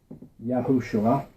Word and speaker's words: Yahushua: Now this top version Yahushua as I pronounce it is found two times in the Tanakh. This version still is still pronounced valpointed to say Yahosua or Yhoshua found 216 times.